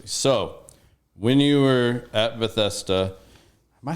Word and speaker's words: Bethesda: help them tremendously so when you were at Bethesda am I saying that right like that's such a weird word Bethesda all right I did say it right all